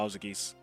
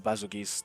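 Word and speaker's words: Bazelgeuse: I've been seeing a lot of people talking about Bowser Geese, or Basil Geese, depending on how you want to pronounce it.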